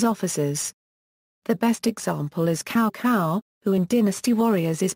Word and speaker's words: Cao Cao: The best example is Cao Cao, who in Dynasty Warriors is pronounced as "cow cow". Cao Cao is now "ts'au ts'au" following traditional Chinese pronunciation.